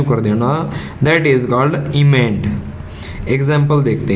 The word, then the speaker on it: emend: अब हमारा वर्ड है दूसरा इमेंड। ये तो था एमेंड, ये है EMEND। ठीक है, सिर्फ ए की जगह ई है, इसका उच्चारण होगा इमेंड।